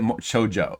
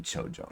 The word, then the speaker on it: Chojo: It's not pronounced like a Spanish word.